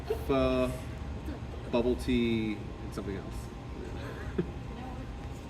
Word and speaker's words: pho: I recommend you get some pho and some bubble wrap and have your pho for dinner, and then, or actually, I learned it's pho. It's like a 2-syllable word.